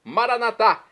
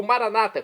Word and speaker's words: maranata: Agora, do dialeto de Jesus, o aramaico, clamemos maranatá, como dizemos nós católicos, ou maranata, como dizem nossos irmãos separados, os evangélicos ou protestantes.